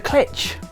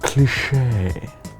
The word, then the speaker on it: cliché: You must be Professor Clitch. It's cliche.